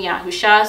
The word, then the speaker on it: Yahusha: just the Messiah, but that is how I pronounce his Hebrew name, Yahusha.